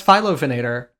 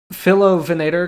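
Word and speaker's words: Philovenator: so which is I I don't pronounce phylophenator because it's Philo venator Curry eye it's named after Phil Curry yeah philophenator Korea the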